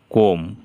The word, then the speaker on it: comb: এইখানে আছে COMB, কোম, বি উচ্চারণ হলো না, কোম অর্থ হলো চিরুনি।